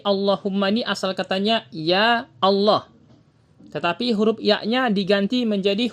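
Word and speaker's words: الله: Untuk syarah penjelasannya, pada bait ini beliau menjelaskan, yaitu Imam Ibnu Jazari menebalkan pengucapan huruf lam pada lafaz Allah apabila sebelumnya ada harokat fathah dan dhamma seperti lafaz Abdullah.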